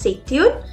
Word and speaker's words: c'est une: Here I'm joining the sound of T and U again and I pronounce it as c'est une, and the last one is ce sont des.